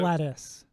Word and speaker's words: GLaDOS: And It's then he's pronounced also Gladys.